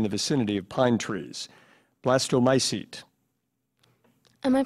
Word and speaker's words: blastomycete: Blastomycete. Am I pronouncing it correctly? Blastomycete?